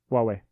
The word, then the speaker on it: Huawei: Huawei.